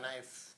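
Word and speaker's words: knife: have नाइफ नाइफ क नाइफ के एन आई नाइफ के साइलेंट है आई हैव नाइफ रिलेशन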